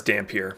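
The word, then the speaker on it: dhampir: ancestry for instance uh daffamir tiefling ASMR that's dampier by the way sorry damn I can't pronounce that word damn pure are basically vampires yeah uh changeling they're all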